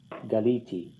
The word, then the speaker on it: galiti: So you might want to write that in there in the second person masculine singular, Galita, and in the first person common singular, Galiti. It's on the second to last syllable.